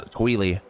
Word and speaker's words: Twili: I always thought it was Twilight, but in Hyrule Warriors, the voiceover pronounces it as Tweely, which is just kind of dumb.